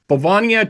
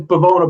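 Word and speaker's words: Bivona: You got Bavania Child Advocacy Center benefit, Yeah, I think that is. Am I pronouncing that correctly? it's Bavona, but they've actually just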